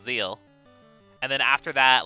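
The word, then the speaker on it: Zexal: It's spelled Zexel, but I think it's pronounced Zeal.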